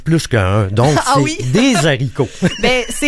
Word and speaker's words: haricot: La façon correcte de le dire serait les hibou, les haricot et de très grande hauteur. Pas de l apostrophe, on prononce pas la liaison.